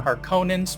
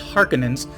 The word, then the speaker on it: Harkonnen: mining operation from the Harkonnens, which is how it was pronounced in this iteration, later pronounced Harkonnens.